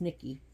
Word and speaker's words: Nike: want to know more about Nike which is pronounced Nikki and I in Greece is Nikki is the